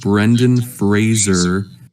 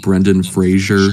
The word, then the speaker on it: Brendan Fraser: so weird because like Fraser looks like how you would pronounce it anyway the way it's spelled so I don't know